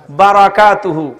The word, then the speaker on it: বারাকাত: আসসালামু আলাইকুম ওয়ারাহমাতুল্লাহি ওয়া বারাকাতুহু বারাকাতুহু বারাকাত বরকত নয় বারাকাত রমাদান রমাজান না রমাদান